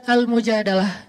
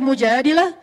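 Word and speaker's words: المجادلة: curhat kalau almujadalah curhat Jadi tergantung kita bacanya Dilah atau dalah kalau kita baca Mujadilah berarti perempuan yang lagi cur curhat kalau kita baca almujadalah berarti curhat itu sendiri surat almujadalah berkisah tentang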